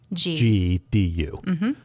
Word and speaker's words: Chengdu: And listeners, it's spelled Chengdu, CHENGDU, but it's pronounced Chengdu.